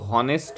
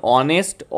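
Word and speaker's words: honest: এখানে অনেস্ট এইচ থাকলেও এটা উচ্চারণ কিন্তু হনেস্ট নয়। এটা উচ্চারণ অনেস্ট অচ্চারণ হচ্ছে।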